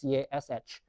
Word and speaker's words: cache: CACHE is pronounced the same as CASH.